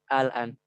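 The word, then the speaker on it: آلْآنَ: Dan sebelumnya sudah kita bahas, apabila ada huruf mat bertemu dengan sukun asli, yang dimaksud dengan sukun asli itu baik waqaf maupun wasal, maka dia itu dibaca dengan panjang 6 harokat atau mad lazim.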